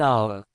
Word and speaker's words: hour: For example, an apple, an egg, and an hour. The h is silent.